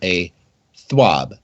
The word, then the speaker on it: TWAB: is rare for centuries I have noted that the this week at Bungie is pronounced as a swab it is and now